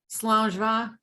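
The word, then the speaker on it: Slàinte mhath: Yeah, the only one I really know is Slangeva, right? Okay, what is that one? Slangeva. It means good health, and it's spelled nowhere near the way it's pronounced.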